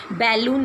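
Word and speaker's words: balloon: Next sentence देखिए, ये बलून मैंने बनाया, ठीक है, और बलून वर्ड का आप स्पेलिंग भी ठीक लिखिएगा और आप इसकी प्रोनाउंसिएशन भी ठीक बोलिए। बैलून नहीं बोलिए, बलून बोलिए।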